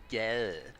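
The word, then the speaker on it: gade: have some, for example, the word for street is spelt G-A-D-E, so you'd think that's pretty straightforward, and I think it's pronounced something like yeah.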